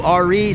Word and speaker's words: Ari: So I've made my way up to RE Station, spelled A-R-I, pronounced R-E.